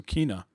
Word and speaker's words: Kena: It's like Tina, but with a K, so Kena.